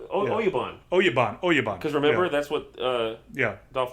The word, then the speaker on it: oyabun: How do they pronounce it? Abuya? Abuya? Yeah. That's right. Oyabun. Because remember, that's what Dolph Lundgren tells Brandon to get out of him. I want to know his Oyabun.